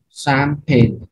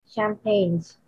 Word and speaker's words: champagne: Champagne. Champagne. Yeah. Mimi Milo. Champagne. Champagnes. No S. Champagnes. No S. Champagne. Champagne, just like the rain.